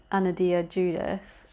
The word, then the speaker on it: Anodea Judith: reading this book it's called chakras by ano anodia judith that's how you say her name and uh